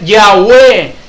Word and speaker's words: Yahweh: Son 4 letras, hermanos. En hebreo es la Yud, He, Waw, He, que fonéticamente pronunciado es Yahweh.